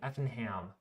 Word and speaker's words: Effingham: of snow um any news on Effingham Illinois Effingham that's a tough one for me to speak actually hard to pronounce that but I actually got it right